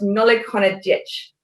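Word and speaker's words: Nollaig Shona Duit: new year happy christmas or happy holidays that's pronounced nolikona ditch if you want to make that plural if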